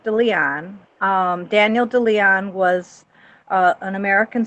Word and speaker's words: De Leon: him at all explain Luxembourg well it's it's pronounced de Leon Daniel DeLeon was an American socialist and he